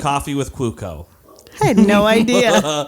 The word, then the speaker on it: Cuoco: the big stars of that show is Kaley Cuoco. Cuoco. I don't know why it's pronounced like that.